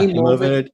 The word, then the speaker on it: Emovid: Emovid. Emovid, kind of like emoji, but What with vid problem at are the you end.